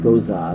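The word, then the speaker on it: Gose: Wait, is it G-O-S-E? Goza, sorry. Goza. Goza. Okay, Goza. We have to pronounce it right. Goza wheat sour.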